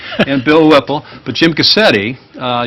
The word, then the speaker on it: Gusctte: Gusctte. How could I mispronounce that? I've been practicing it all morning. And Bill Whipple. But Jim Gusctte, you spell it with a C, but the C is silent.